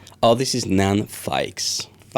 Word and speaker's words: Feix: And that's how you say it in French as well or we try to with my wife to say this is f but every everyone says fex but it's fik n I try